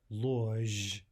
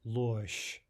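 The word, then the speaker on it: ложь: So what we say here is not lozh, but losh, losh.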